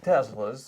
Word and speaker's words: Tesla: Can I ask you first, because you pronounce it so Elon, like Tesla. Tesla. and then, you know, Americans are like Tesla. And like, The Tesla. how are you supposed to say it? Whatever you What's the correct want. way? But Yes. Elon says Tesla.